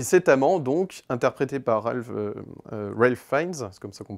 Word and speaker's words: Ralph Fiennes: Et cet amant, donc, interprété par Ralph Fiennes, c'est comme ça qu'on prononce son nom, eh bien, lui, il va